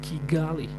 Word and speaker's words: Kigali: __ ] cuz in my book it says Kigali oh as we say Chu they they pronounce their K as CH nothing wrong with